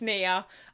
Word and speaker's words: Nia: but I think because I saw a preview and I think she pronounces it Nia so I think it's Nia um I'm really excited